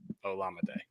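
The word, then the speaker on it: Olamide: Spell it. I know. O L A M A D E. O Lama Day.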